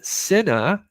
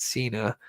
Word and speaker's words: Sena: this is Charlotte uh Cena is how the last name is pronounced not Cena um nine years old